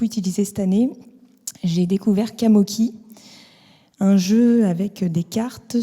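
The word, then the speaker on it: Qamoki: Kamoki.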